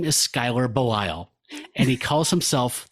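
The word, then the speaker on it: Schuyler: guy's name cuz I it's s c h u y l e r something like that. I was like I don't know how to say it. The internet says it's Skyler and you guys agreed we can call it that.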